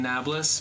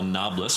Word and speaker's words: Nablus: in the 7th century, they have trouble pronouncing the P sound, and it becomes Neapolis, which is now what we call Nablus, but it's biblical Shem.